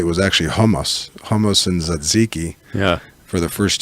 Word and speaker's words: tzatziki: So first of all, how do you actually properly pronounce tzatziki, which is how I say it? Tzatziki? Tzatziki. Yeah. Paul, make note. Kill the T.